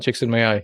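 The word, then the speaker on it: Csikszentmihalyi: I always mispronounce Mihail. It's like Chicks in My Eye.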